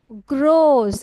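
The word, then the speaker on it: grows: তারপর ইট গ্রোস, এটার উচ্চারণ দেখো কি বলছি আমি? গ্রো, রোজ, গ্রোস।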